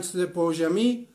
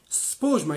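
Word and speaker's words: سپوږمۍ: بعضی ها میگن سپوجمه، بعضی ها میگن سپوجمی و انواع و اقسام. نه، سپوجمه یعنی با سین ساکن شروع میشه و ما در فارسی این رو نداریم.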